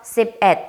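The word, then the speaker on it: สิบเอ็ด: 요때 요거를 씹능이라고 읽으면 안 되죠. 왜냐? 1이라는 숫자가 우리 10의 자리 숫자 뒤에 갔을 때부터는 at이라고 읽어준다라고 기억을 해주시면 돼요. 그래서 sip at 해주시면 요게 11이 되고요.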